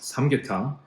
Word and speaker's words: 삼계탕: In Korean, this is pronounced samgyetang.